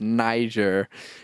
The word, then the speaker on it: Niger: I was like uh how do I I pronounce this and he's like no it's Niger come on it was me and a couple